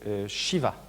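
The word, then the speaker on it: Siva: C'est Shiva. Oui, on peut le prononcer, c'est ça s'écrit S-I-V-A, mais ça se prononce effectivement comme ça, avec Brahma et Vishnu, évidemment.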